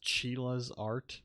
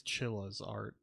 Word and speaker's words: Chilla's Art: I think I pronounced Chila's art before but I think it's Chilla's art because I think it's like a chinchilla So, makes sense that it's uh pronounced chilla, I guess.